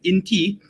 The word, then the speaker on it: INTI: our inti International University the inti is not any short form is basically we pronounce it as inti so do this int